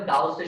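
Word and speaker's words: Gauss: এটাকে বলা হয় গস ল বা গসের সূত্র, বা অনেকে বলে গাউসের সূত্র, উচ্চারণটা এরকম। এটাকে বলা হয় গসেস ল ফর গ্র্যাভিটেশন, অর্থাৎ মহাকর্ষের জন্য গাউসের সূত্র।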